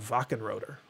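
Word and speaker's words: Wachenröder: published by sega themselves called vacant rotor although it's spelled like walk and rotor it was a a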